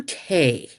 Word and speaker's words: Tse: Victor Tay. Okay. And it's called Nature's Herbs Urinary Relief. Okay. And these are Dr. Victor, I think it's pronounced Tay, but it's TSE.